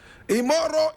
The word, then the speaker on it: Imoru: Alhaji IMORU EGALA. How many of us have heard about this name before? Does it ring a bell in our ears? Alhaji IMORU EGALA. IMORU is spelled I-M-O-R-U. EGALA is E-G-A-L-A.